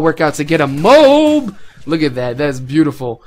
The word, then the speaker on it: MOAB: Hopefully all my tips and tricks can help you get this word that nobody can pronounce correctly. MOAB, MOAB. Whatever, it just flows naturally as MOAB for me.